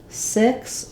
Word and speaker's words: six: I sound and then the other puzzle for six is how do we pronounce the X so the letter X says different sounds and different words in this word it has the C and the S sound I've written here with